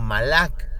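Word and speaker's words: מלאך: hablamos de este término en hebreo nos referimos Nosotros con la pronunciación malak que también significa mensajero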